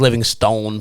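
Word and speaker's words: Livingstone: with livingston last year actually i think it's living stone pronounced properly like whatever but i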